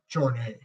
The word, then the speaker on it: Jarnett: Jarnay, even though it's spelled Jarnett, it's Jarnay.